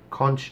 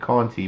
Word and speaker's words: Conti: But they've started pronouncing it Conti because that's how it's spelled. I think somebody was listening. Yeah. Because I talked about this. If you're going to spell it Conti, it would be nice if it was pronounced Conti. If it's going to be Conchi, spell it with just a C instead of a CH.